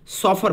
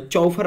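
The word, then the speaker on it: chauffeur: Important person के लिए, उसे हम लोग सॉफर बोलते थे। इसको चौफर मत बोलिएगा, इसको सॉफर बोला जाता है, ठीक है।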